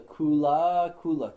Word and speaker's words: Kulākula: So this is called the Kulākula chakra. K-U-L, long A, K-U-L-A.